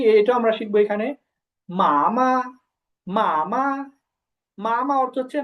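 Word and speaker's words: 妈妈: কোন টোন নাই তো এটা হচ্ছে নিউট্রাল ফর্ম এটা উচ্চারণ হবে কেমন একেবারে নরমাল মা প্রথমে হবে মা তারপর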